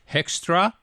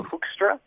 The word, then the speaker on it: Hoekstra: spell your name because I don't know it's hextra uh HRA is the American pronunciation be HRA it's kind of a Dutch name so hookstra HRA HRA but Joel j o e l